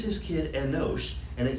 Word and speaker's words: Enosh: Enosh. You ever heard that name, Enosh? It's like Enoch, but with an S instead of a C.